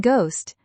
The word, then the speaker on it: ghost: And in ghost, the H is silent, so the G is hard.